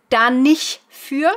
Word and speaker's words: da nicht für: Da nicht für, commonly pronounced as da nicht für, so no T on the nicht.